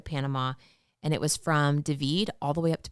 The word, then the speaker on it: David: We had just crossed the border into Panama and it was from Devid all the way up to Bokeete. And David is spelled like David.